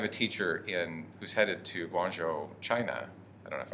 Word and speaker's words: Guangzhou: I have a teacher who's headed to Guangzhou, China. I don't know if I'm pronouncing that right at You all. are Guangzhou.